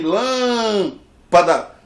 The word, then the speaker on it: lâmpada: A palavra lâmpada, separa a palavra lâmpada. Essa palavra aqui ela é proparoxítona. Por quê? Porque a sílaba forte é aqui. Lâmpada.